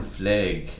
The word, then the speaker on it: fleg: Well, the term Fleg is of course a satire on the Belfast pronunciation of flag.